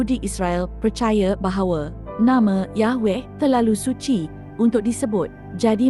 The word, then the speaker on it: Yahweh: x tidak pernah hilang beberapa penulis Gereja Kristen awal Yunani bersaksi bahwa nama itu diucapkan Yahweh ini mengesahkan sekurang-kurangnya untuk